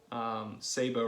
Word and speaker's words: sabot: some people pronounce it sabot they're wrong it's french it's pronounced sabo and